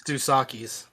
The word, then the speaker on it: Dos Equis: It's Dos Equis.